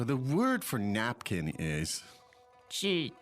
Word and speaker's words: 纸: So let's look at the word 纸巾. Now, the first part is... 纸, 纸. Now, that's the third tone, right?